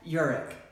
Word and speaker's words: Urich: Beth Urich, rhymes with Zurich, and I lived there for many, many years.